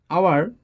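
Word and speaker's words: hour: আওয়ার, এটা হাওয়ার না, এটা হবে আওয়ার, আওয়ারের জন্য এখানে এন বসবে।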